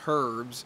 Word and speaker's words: herbs: h-e-r-b or h-e-r-b-s but the H is silent it's not herbs or herb but it's